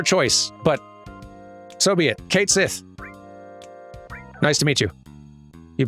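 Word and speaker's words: Cait Sith: And it's supposed to be pronounced more like Ketchi. But then it was announced from Square that it is actually just pronounced Kate Sith, which is honestly an even weirder choice, but so be it.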